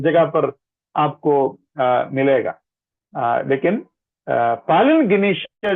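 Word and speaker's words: palingenesia: उसका ग्रीक शब्द है पालिन गिनेशिया, पालिन गिनेशिया, PALINGNESIA, पालिन गिनेशिया।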